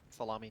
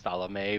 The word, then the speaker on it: Salome: Can we summon Salami, please? Love how it's pronounced Salome, but you guys are calling it salami.